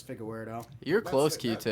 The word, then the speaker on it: Figueiredo: it's pereira versus uh fiallo is that how you pronounce that no it's moreno versus figa weirdo you're a close key